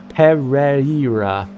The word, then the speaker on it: Pereira: I can't pronounce his last name. Pereira. Yep, that's it. That's correct.